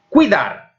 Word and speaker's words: cuidar: Cuidar, neste caso, a vocal forte, a sílaba tónica, é dar.